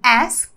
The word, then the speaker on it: asked: o passado do verbo Ask que quer dizer perguntar mas no passado a pronúncia fica praticamente assim ó asked asked é como se fosse as tá asked as Você